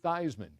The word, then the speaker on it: Theismann: it was joe eastman but he was joe theismann ever since yeah yep but i just wondered